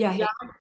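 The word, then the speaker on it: yagé: call it is it yah? Yeah. Okay. I don't know why. I guess because it's spelled y a g e that I want to say yah or something.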